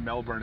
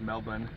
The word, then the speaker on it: Melbourne: They don't pronounce the R's, right? Like, you told me that. It's not Melbourne, it's Melbourne.